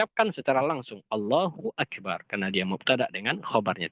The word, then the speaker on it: Allahu Akbar: Allahu Akbar. Karena dia mubtada dengan khobarnya. Tidak boleh seseorang memisahkan antara mubtada dengan khobarnya. Dan di antara kesalahan yang fatal juga adalah memanjangkan ba di akbar.